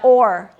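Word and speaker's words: o'er: But there's an archaic word that sounds like or and it's spelled o apostrophe e r and it means over like over there or over the hill and it's pronounced or yeah nice job.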